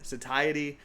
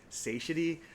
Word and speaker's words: satiety: And there's two ways to say it. There's the British way to say it, satiety. There's the American way to say it, satiety.